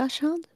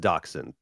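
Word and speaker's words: dachshund: 21 lb well that's that's progress did you pronounce it dash hound isn't it a dashound daund it's a dashound all right come on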